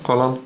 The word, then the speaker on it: Haaland: And you are, I'm not going to try to pronounce his name well. Is it Erling Haaland? Yeah, Haaland.